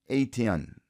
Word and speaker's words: Eytan: Ron's last name is pronounced aten.